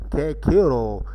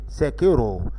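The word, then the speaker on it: Cicero: A lot of nonsense, in my opinion, making boys say Kekiro at the school when for the rest of their life they will say Sekiro.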